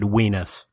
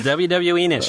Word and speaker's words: WWEnus: Mike, I'm so glad you didn't pronounce it Weenus. Weenus? I should have. It's like whoa, Weenus. No, it is. WWEnus. You got it.